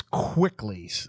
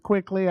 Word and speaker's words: Kwikly: I need a hygienist quickly. I need an assistant quickly. That's kind of cool. yeah. Thanks. It's spelled a little weird. It's KWIKLY, so it's quickly with a K.